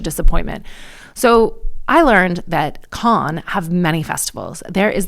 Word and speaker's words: Cannes: that I went to Khan as I think the French pronounce it, or Can Can, there were a lot of Americans there.